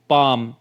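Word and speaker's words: palm: पर देखिए we sorry W ए एल के यहां पे एल जो है वो साइलेंट है प ए एल एम में एल साइलेंट है और सी ए एल एफ में एल जो है वो साइलेंट है और इसको हम किस तरह से रीड आउट कर रहे हैं वॉक पाम काल्व तो इन तीनों वर्ड्स में एल जो है वो साइलेंट है उसकी साउंड नहीं निकल रही है ठीक है इसी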